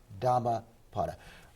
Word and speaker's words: Dhammapada: a p a d a that's one word dhamma potter uh my understanding is one of the translations